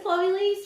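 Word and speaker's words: Chloe Liese: Like, if I know that her name is Chloe Lise, why does this person not know her name is Chloe Lise?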